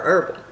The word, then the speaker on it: herbal: Is it herbal or herbal? It's herbal, right? The H is silent.